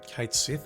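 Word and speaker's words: Cait Sith: the Japanese version but we don't call Cloud Kuro we call him Cloud so so we are going with Kate Sith as pronunciation here is this where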